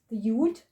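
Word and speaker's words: י: Then we have the yud, the yod, which sounds as ya.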